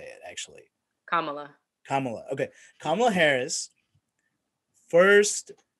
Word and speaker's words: Kamala: the election just happened the results are out kamala harris tell me how to say it actually kamala kamala okay kamala harris first vice president who